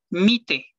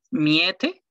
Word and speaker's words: Miete: Por ejemplo, mite no se lee miete, se lee mite.